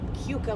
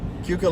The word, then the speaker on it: Keuka: we are driving around keuka lake lake i keep saying it wrong cuca lake is the lake